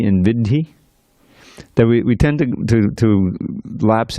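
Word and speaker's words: viddhi: Yeah, the first syllable is heavy. It's a quarter note. It's not an eighth note. Vidhi.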